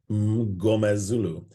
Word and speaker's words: Mngomezulu: And I just said, break it into constituent parts and make sure you get that Gomez, your friend from Latin America somewhere, Mngomezulu.